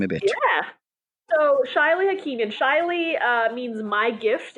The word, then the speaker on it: Shaily: So the way she spelled my name in American English is actually people like to pronounce it Shaily. Even though in French it's pronounced Shaily, but she decided to make it a little bit more complicated for me.